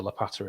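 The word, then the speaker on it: Łopata: with a line through it in polish it's pronounced like a w sound well i asked him and he said no it's lapata so casper lapata it is seeing birmingham now with uh with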